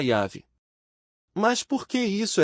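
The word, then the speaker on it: Yahweh: Os maçoretas, escribas judeus dos séculos VI ao X, adicionaram as vogais de Adonaias consoantes do tetragrama, criando uma pronúncia artificial incorreta. Mais tarde, tradutores latinos transformaram essa versão distorcida em Jeová. No entanto, linguistas e especialistas em Bíblia concordam. A pronúncia original era Yav.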